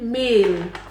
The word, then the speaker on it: Mehl: Flour in German is meal, so bohnen is beans, we say bohnen meal. Where you say wheat meal or whatever meal it is, meal is flour. Meal is spelled MEHL.